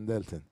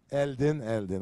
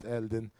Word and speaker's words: Eldin: And Elton. Because Eldin, okay. So I got his name wrong the first time, but on the second time I managed to get it right. Eldin, George and Justin here